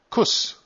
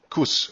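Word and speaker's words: Kusch: äh im achten Versitat Kuss. C Hus, ne? Kuss. Also, ich weiß nicht, wie man das sonst im Deutschen ausspricht. Ich spreche das Kuss aus. So spricht man das im Englischen aus.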